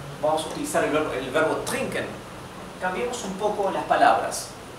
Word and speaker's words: trinken: Si tienen dificultad en pronunciar la R gutural del alemán, empiecen por pronunciarla como en español, trinken, ¿sí? Después van practicando para que salga con la garganta, trinken, y no dental como la R de español.